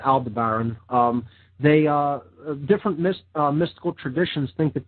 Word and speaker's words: Aldebaran: Yeah, Aldebaran in some mystical traditions is, there's different pronunciations of that. I just call it Aldebaran.